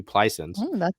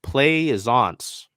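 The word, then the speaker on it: Plaisance: so I mean maybe pleisens oh wait yeah hold on the pronunciation Glide is play zance my apologies I believe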